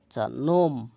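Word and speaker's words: gnome: Knife ছুরি knock করানারা আরো যেসব শব্দর শুরুতে কে এন বা জি এন থাকে সেখানে সাধারণত কে এবং জি এর উচ্চারণ হয় না।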